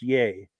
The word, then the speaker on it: Yea: um okay they're in yay Victoria it's pronounced yay cool deal and then